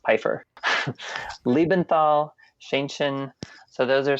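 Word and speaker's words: Pfeifer: e i f r but it's pronounced Piper Lebenthal shenin so those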